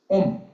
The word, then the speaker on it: Om: So Om, now first is there comes the sentence Om. Sanskrit Om is usually is 3 consonant and vowel together is 1 syllable. Om comes. A, U, Ma. These together, A, U, Ma, and become syllable Om.